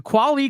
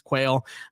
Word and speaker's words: Quali: They probably still think he's Quail. I'd be surprised if he got drafted and they didn't announce it as Quail Conley or something like that.